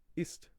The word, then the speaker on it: ist: I remember in first year of college, there was a guy who pronounced the German. So the German word for is ist, right? Ist, ist, and he thought, obviously, because there's so